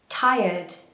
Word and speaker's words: tired: This is a really common word, and a lot of my students pronounce it as tired or tired, but actually, again, in the British accent, we very often try to remove the R. This word, the R actually turns into a Y.